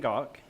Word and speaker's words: Gach: My name is Gach, pronounced like Bach, the composer.